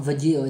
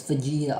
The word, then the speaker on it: Vegeta: So it's not Vegito, it's Vegeta. Arch is just mispronounced.